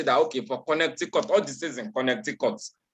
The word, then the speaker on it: Connecticut: that you want to say that okay for connecticut all this isn't connected cuts which year did